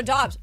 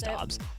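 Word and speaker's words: Doubs: I do this because his name is spelled Dubes, but he wants to pronounce it Dobbs, but it's wrong.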